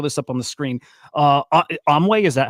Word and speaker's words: AMAI: AMAI, is that how you pronounce it? AMAI. Yes. AMAI.